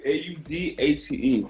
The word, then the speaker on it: Audate: Did I pronounce that correctly? Is it Audate? You pronounced it 100% correctly. Audate, Audate.